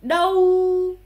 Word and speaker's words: đâu: Combiné après avec le U, A chapeau et U se fait OU. Imaginez un peu comme si vous faites OU, OU, OU, OU, OU. OU. Sauf que vous faites l'accent neutre. OU, OU, OU. Et donc, avec le D, ça fait DAOU, DAOU, DAOU.